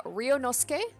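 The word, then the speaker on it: Ryūnosuke: guys for letting me know about the proper pronunciation uh ryonosuke so hopefully that is better so he is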